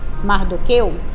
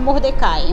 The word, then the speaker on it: Mardoqueu: A segunda história, pessoal, tá no livro de Esther 2:21, aonde o seu tio Mardoqueu, tem gente que chama Mordecai, mas é pronúncia.